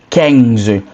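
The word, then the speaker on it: quinze: So a bit like queens but it's Kang. Listen to my pronunciation so you don't get it wrong.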